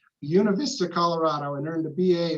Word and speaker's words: Buena Vista: John grew up in Buena Vista, and that is how you say it, Buena Vista, Colorado, and earned a